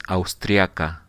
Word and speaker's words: austriaca: In the case of the man is austriaco, austriaco, and in the case of the woman is austriaca. But you are right. Just the pronunciation is a little bit different.